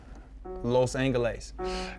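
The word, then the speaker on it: Los Ángeles: Los Angeles.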